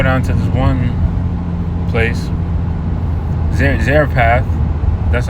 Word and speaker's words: Zarephath: Because he basically had he was commanded to go down to this one place, Zarephath.